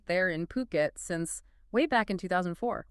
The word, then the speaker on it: Phuket: We're talking Phuket. Definitely Phuket, not Fuket. That's important. Exactly. Get the pronunciation right.